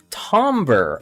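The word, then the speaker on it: timbre: me see tber Tom tomber okay so it's pronounced with like an a even though it's an I tber I have never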